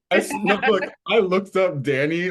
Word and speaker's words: Dan'i: Like, I'm not discriminatory where I put out my music, under Danny, that's all caps DAN apostrophe I. A lot of people pronounce it deny. No, I am not.